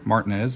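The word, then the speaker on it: Marietta: here in Martin as Georgia Martinez if you're from the area yep that's how they pronounce it have a if you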